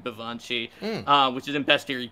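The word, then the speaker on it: baobhan sith: or the right right which is spelled like b-a-o-b-h-a-n vivancy uh which is in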